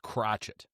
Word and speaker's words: Crochet: I've heard it pronounced Crotchet, just like Michael Penix. Crotchet. That's like Miami Vice.